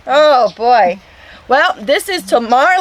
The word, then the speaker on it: Tamar: Well, this is Tamar. Did I say your name? Pretty good. How did I say that? How do you say it? Tamar?